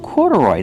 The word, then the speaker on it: corduroy: Corduroy, that's right. These are corduroy shorts. Pronunciation, corduroy. Put the stress on the first and third syllable.